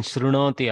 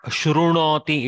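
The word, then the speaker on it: शृणोति: I should have alerted in shrunoti also. See, it is not shrunoti, it is shrunoti, shrunoti. Just like this prichati, r. So this is the swara r.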